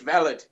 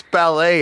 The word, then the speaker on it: valet: but but it's okay it's pronounced valid ballet is something different NY Mish hears him and thinks it's ballet and starts doing a